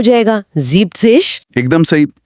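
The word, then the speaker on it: siebzig: जीपसिश। एकदम सही। नंबर 70 में सीबिनिक के बजाय जीप्सिश हो जाता है।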